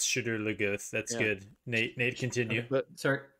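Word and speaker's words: Shadar Logoth: the show into should chadur not the actual pronunciation yeah we can't we can't confuse the two it's shooter lagoon that's good nate continue sorry go ahead nate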